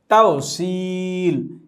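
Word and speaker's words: توصيل: তাউসিল। আমরা শব্দটি এভাবে শিখে নিব। তাওসিল এখানে সদের পরে ই আছে তাই আমরা এক আলিফ পরিমাণ টেনে পড়ছি।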